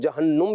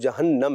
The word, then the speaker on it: جہنم: جہنم کہا جاتا ہے۔ اس کو لوگ جہنم بھی پڑھتے ہیں لیکن اس کا درست تلفظ جہنم ہے۔ قرآن مجید میں اور